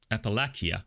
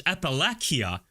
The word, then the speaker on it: Appalachia: You know, the mountainous region of USA, of the US, people usually say Appalakia. Oh, it's Appalakia.